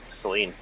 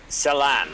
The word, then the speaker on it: Celan: As well, Celine. Celan. There you go. Celan is the proper pronunciation.